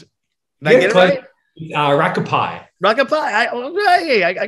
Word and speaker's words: Rakaupai: get this how do you pronounce it uh rocco pie rocket pie oh hey i got it